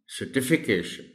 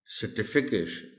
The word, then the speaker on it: certification: T that is after CER so the correct pronunciation of the word will be certification certification professional and many a word class 1K tutorial